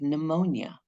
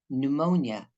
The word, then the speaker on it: pneumonia: of the eye n this is pronounced n so like pneumonia right pneumonia air lungs my myofascial